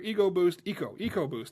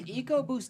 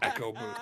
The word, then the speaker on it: EcoBoost: Is EcoBoost different from the EcoBoost? Yes, Yes. because one is pronounced correctly. Properly. You're Exactly. right. Who calls it Echo Boost?